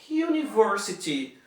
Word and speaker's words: university: O a boy, a horse, a university. Olha aqui, university começa com uma vogal U, mas ela na pronúncia não tem som de U. A pronúncia é som de university.